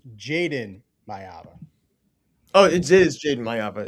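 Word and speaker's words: Jayden Maiava: Real quick, Peyton, how do you pronounce the quarterback for USC's name? Jordan Mayava. And Soupy, how do you say it? It's Jaden Mayava.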